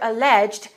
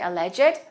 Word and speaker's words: alleged: test after the teacher alleged that he cheated on it in this case we don't say alleged we say alleged and let's link the